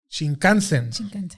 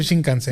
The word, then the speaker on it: Shinkansen: Shinkansen. Okay. Exacto. No sé si se pronuncia así, pero Shinkansen.